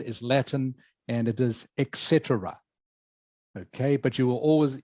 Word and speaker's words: etc: in its short version which is this e t c but for this one you do actually say Etc so I hope that